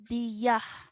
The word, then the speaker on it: ناديه: Diyah. ديه. Yes, ya followed by a ha sakin.